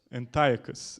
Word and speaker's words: Antiochus: So how do you pronounce it? Antiochus.